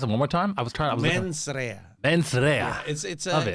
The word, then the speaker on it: Mens Rea: Pronounce it one more time. Mens Rea.